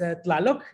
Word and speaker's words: TLaloC: So my, I guess, artistic name is TLaloC. That's the way you pronounce it, Colette.